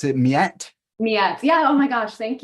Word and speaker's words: Miet: last name pronounce itet metet yeah oh my gosh thank you I no one ever pronounces it correctly but yeah it's it's metet miet what an